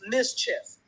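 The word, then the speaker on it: MSCHF: who's doing this this is mischief and mischief is spelled by its new ms chf they're like an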